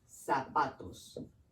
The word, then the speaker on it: zapatos: The Z's in Spanish, they sound like S's. So every time that you see a Z, pronounce it like an S. For example, the word zapatos.